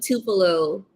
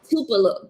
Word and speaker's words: Tupelo: The case Tupelo? of what? The Kings of Tupelo. Wait, hold on. Let me. I got a handy notebook. Handy Spell that dandy. out. The Kings, like a king. Mm-hmm. Tupelo.